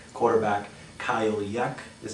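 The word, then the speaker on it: Jech: but you'll you'll hear names like quarterback kyle yeck is how it's pronounced it's actually j e c h it's yak running back nate gallory and wide receiver corey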